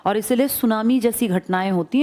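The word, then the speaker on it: tsunami: बात कर रहा ना सुनामी जापानी भाषा का शब्द है जिसमें टी साइलेंट लिखते हैं ऐसे बोलते हैं लिखते हैं टी सुनामी बोलते हैं सुनामी कौन सी भाषा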